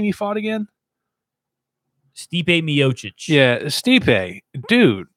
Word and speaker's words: Stipe Miocic: Stipe Miocic.